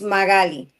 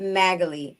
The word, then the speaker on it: Magali: If you speak Spanish, Mm-hmm. it's Magali. If you don't speak Spanish, the easiest way is Magali. Like Natalie, I always say like Natalie, but Magali.